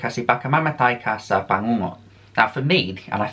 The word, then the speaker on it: bangungot: And I believe you pronounce this word as bangungot.